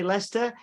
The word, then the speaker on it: Leicester: It's funny because you know how to say Leicester, whereas Americans that come over here, they go Leicestershire.